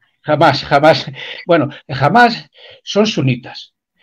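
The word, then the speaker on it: Hamás: de lo que es jamás creo que se pronuncia así no mut Jam o ananás no No jamás Bueno yo lo pronuncio jamás jamás jamás bueno jamás son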